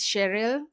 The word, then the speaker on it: Sheryl: My name is Sheryl, spelled or pronounced with the R when you pronounce the R when you roll back your tongue.